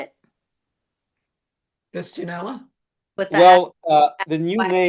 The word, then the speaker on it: Fistulinella: Fistunella? With the Well, the new name that I proposed as a provisional name is Fistulinella, and that's based on the DNA sequencing of a collection from North Carolina.